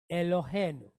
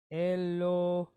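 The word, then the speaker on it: אלהינו: We have Aleph pointed how? Chatef segol. So for all intents and purposes, a quick E. Eh. Then we have Lamed pointed Holem. L. O. E. Lo. Then we have a Hey pointed Sere Yod. So we have H-E-I. Hey. Right? Elohe. Then we have a nun followed by wa pointed shuruk. Nu. Elohenu. Okay. Elohenu.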